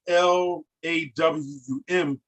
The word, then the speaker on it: lawum: So when you say LAWUM, you say law, as in you're not following the law, and womb.